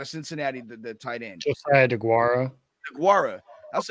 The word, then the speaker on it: Josiah Deguara: don't forget my guy that's on I always mispronounce his name. Out of Cincinnati, the tight end. Josiah DeGuara. That's DeGuara.